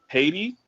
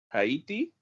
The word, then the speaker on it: Haití: ¿Has leído sobre los esclavos en Haití?